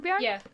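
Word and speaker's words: Torbjörn: I think is it Torbjorn? Yeah. Yeah, that's it. Yeah, you pronounce it better than me.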